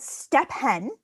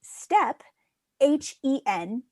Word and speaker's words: Stephen: of one syllable and i read the name steven wrong i used to read it s-t-e-p step h-e-n hen step hen is stephen stephen is step 10 stephen is stephen h-e-n steven well what if stephen